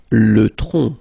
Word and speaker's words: tronc: Le tronc, okay, remember, final C is not pronounced here.